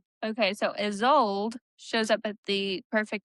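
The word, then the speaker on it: Isolde: And uh I don't know how to pronounce her name. Isold is old. Is old. Is old. Do you remember that the movie Tristan and Tristan and Isold? I love that movie.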